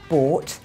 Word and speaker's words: bought: Thought, bought. That O-U-G-H is an OR sound, like in the word saw.